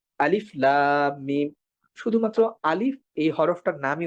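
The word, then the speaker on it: الم: এই হরুফে মুকত্তাহাতের ভিতরে একটা হরফ আছে আলিফ যেটাই কোন ধরনের মাদ হয় না। যেরকম আমরা বলি আলিফ লাম মিম।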